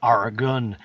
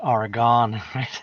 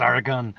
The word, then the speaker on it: Oregon: there Lily Gazoo says it's pronounced Oregon not Oregon it didn't go anywhere it's Oregon fair enough um but